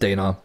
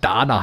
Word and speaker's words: Dana: Und ich möchte trotzdem mal wissen, wie alt ist Dana? Okay, Dana. Entschuldigung, habe ich falsch ausgesprochen. Dana heißt sie also.